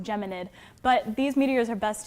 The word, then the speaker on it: Geminid: By the way, it is Geminid, non Gemini. I was going to ask you that because it is after the Gemini constellation, but it is pronounced Geminid.